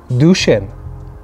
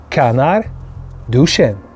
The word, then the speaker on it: Canard-Duchêne: today I'm going to teach you how to pronounce top 10 selling champagne houses in the world number 10. Canal duchenne one more time duchenne number nine champion number eight number seven champagne